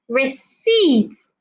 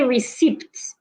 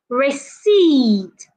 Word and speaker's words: receipt: Another word that we have is receipts. Do not say receipt. Say receipt.